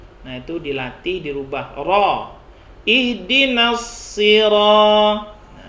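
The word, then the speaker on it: اهدنا الصراط: bukan roh ini nanti kalau ada yang masih membacanya pake karo Nah itu dilatih dirubah kroll ihdinash shiraathal ihdinas sirotol lagi in Dino setir oabang bukan roh bukan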